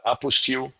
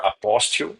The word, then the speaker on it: apostille: you don't need like the apostille or apostille, right? You pick the pronunciation you like the most.